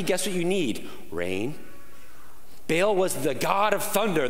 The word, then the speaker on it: Baal: different idols like like baal or ba'al that's how you say it in hebrew right like baal was this